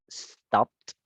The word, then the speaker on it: stopped: stopped. Stop. No es, sino stopped. Stop. Muy bien. Stop it. Talk, stopped. Una sola sílaba.